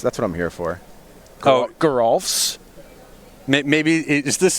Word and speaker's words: Geralf: Like, could it be Giraffel's Messenger? I think I'm just like using the vowel wrong. Like I'm improperly pronouncing the E in the name. Geralf's.